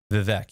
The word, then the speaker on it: Vivek: And just correct me on my pronunciation. Vivek. Vivek.